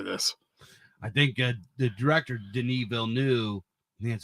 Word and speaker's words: Denis Villeneuve: I think the director Denis Villeneuve That's how you say his name.